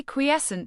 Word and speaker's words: quiescent: Quiescent. Pronounce it as quiescent.